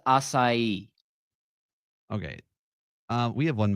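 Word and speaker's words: açaí: on that that word that word is pronounced assai okay uh we have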